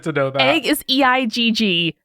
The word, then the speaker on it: Eigg: know that egg is eigg pronounced like egg um i just really